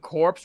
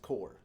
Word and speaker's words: corps: distance gel issued the solemn order the second corpse responded in perfect choreographed order okay I know it I know it's spelled corpse but it's pronounced core core yeah oh yeah oh like like the